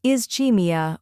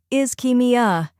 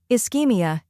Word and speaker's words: ischemia: pronunciation is is Kim first part is like the word is second part key rhymes with key third part me uh smoothly blend me and uh when you put it together it's is keia now let's practice repeat